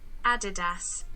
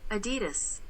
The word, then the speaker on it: Adidas: While we are talking Adidas, I just want to clarify on the pronunciation for the British versus US, because a lot of you question this. This is the British. Adidas. This is the US. Adidas.